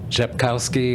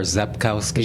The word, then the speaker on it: Rzepkowski: say your last name japkowski or zapkowski Jankowski no R the RSI the r is silent I always tell people the r is silent like the p and swimming people go hmm the